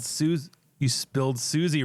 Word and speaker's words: Suze: it there's no y It's s u Ze Sue Orman oh God why cuz she's up and nasty that's not even how you say it Suz yeah s now just